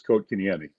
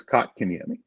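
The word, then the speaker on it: Kotkaniemi: Co yes very coat kenami told me in trip it's coat kinami yet if you listen on the K's pronunciation guide he says kot kinami and I asked him why did you say that he goes well that's what they called me when I came over here so again it's what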